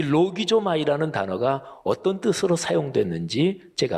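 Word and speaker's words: λογίζομαι: 그러니까 여길지어다 이렇게 번역된 헬라어 동사가 헬라어 발음을 하면 로기조마이 이렇게 발음하는데요.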